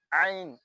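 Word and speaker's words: ع: Ain, ain. You pronounce it inside.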